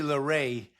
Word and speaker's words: Larrey: Because it reads like Larry, but it also looks like there might be a more sophisticated pronunciation possible. It's actually Larrey. Okay. Because it ends with EY.